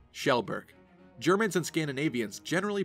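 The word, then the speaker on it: Kjellberg: Felix Kajelberg? Nope, Shellberg.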